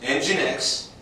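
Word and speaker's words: nginx: L it's uh and it's a little bit uh tricky because there's no e on it actually it's um it's Linux engin X which is spelled NG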